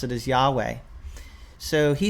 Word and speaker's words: Yahweh: name that as best we know how to pronounce it as Yahweh so he says the legacy Standard Bible is